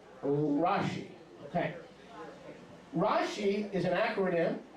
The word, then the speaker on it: Rashi: i have a rashi okay but it's not pronounced rashi is pronounced rashi okay rashi is an acronym now all the